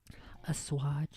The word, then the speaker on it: assuage: They're just, trying to assuage the fears of their child, but they end up Assuage. It's assuage. Oh, imagine running a radio show and not knowing how to pronounce hardly written words.